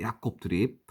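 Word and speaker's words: Jacob Trip: 야콥 드립. 야콥 드립. 영어는 트립이라고 쓰는데 네덜란드어는 드립이라고 읽어야 된다고 합니다.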